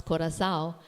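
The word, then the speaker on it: coração: that when I pronounce corazao the second C is pronounced like an s okay and I'm gonna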